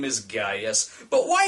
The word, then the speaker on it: Gaius: footage for the film the actors correctly pronounce it as Gaius as in this pre